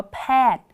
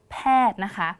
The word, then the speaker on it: แพทย์: ที่ อ่าน ไป ค่ะ อ่าน ว่า แพทย์ แพทย์ เรา จะ อ่าน ถึง แค่ ตัว ท ทหาร นะ คะ แพทย์ ก็